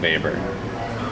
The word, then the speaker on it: Weber: Faber with a w so he's a German guy looks like Weber like Charlie Webber but it's pronounced baber so max labor and